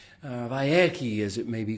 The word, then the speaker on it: Vayechi: Parsha number 12 of our series, week number 12 of our sessions is Vayechi. Vayechi, as it may be called in some pronunciations. Vayechi.